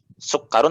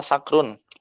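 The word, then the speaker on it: سُكَّر: Hada sukarun apa sakrun? Sukarun.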